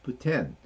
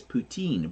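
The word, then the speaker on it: poutine: Canadian and that's how they say it it's puten but we all in Canada and in the states we still will refer to it as putine but it's not it's Putin um so there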